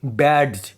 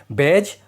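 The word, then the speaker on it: badge: ऐसा नहीं है कि आप इसे बोलोगे बैड और एज। यह गलत होगा। यहां डी साइलेंट रहेगा। बैज और एज।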